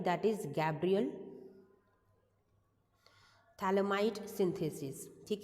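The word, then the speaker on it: Phthalimide: हैं that is Gabriel थैलमाई synthesis ठीक है थैलमाई के अंदर पीएच आपका साइलेंट होता है इट्स अ थैल इमाइड सिंथेसिस रिएक्शन ठीक है नाम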